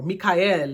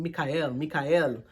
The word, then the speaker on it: Michael: So chanting their name, if you are needing the protection or the help of Archangel Michael, just say his name, Michael, or Mikael is his Hebrew name, Mikael, chant his mantra, especially in a meditative state.